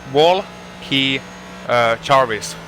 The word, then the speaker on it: Valkeajärvi: Well, Teemu's name is Walkey Jarvis, like Valkeajärvi pronounced, but it's Wall, and then it's Key, and then it's like the surname Jarvis.